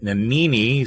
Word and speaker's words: Nanini: Nanini, so his name sounds like panini, not a panini, because there's no such thing. So like the sandwich.